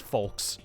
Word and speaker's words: folks: then the other one you say you know the folks like f KS folks it's like no actually both of them are supposed to be pronounced folks what did I just